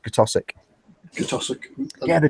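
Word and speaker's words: Keswick: read the name it's great zwick but it's pronounced kosic GIC yeah the g b that's the one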